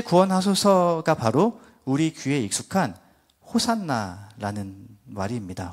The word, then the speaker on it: 호산나: 바로 우리 귀에 익숙한 호산나 말입니다 원어의 발음은 호시안나 호시안나 합니다 저를 따라서 같이 발음해 보실까요 호시안나 한번 더 호시안나네 오늘